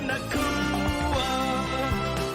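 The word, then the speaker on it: Nacua: Puka Nakua. Fantasy assassin, it's the time to cash in. Yeah, it's Puka. Don't need the glove. Don't need the His quarterback is not named Tua. Yeah, rhymes with Nakua.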